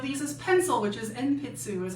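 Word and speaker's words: 鉛筆: which one of these is pencil which is npitsu is how you say it.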